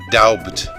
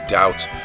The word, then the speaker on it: doubt: as they're spelled, like daubt or kalf. But it's unlikely anyone ever pronounced the B in doubt. Shakespeare didn't, since in one of his sonnets he rhymes doubt with out.